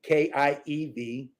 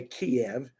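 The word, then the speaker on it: Kyiv: was in kiev okay k-i-e-v some some americans say kiev but it's kiev okay in ukraine um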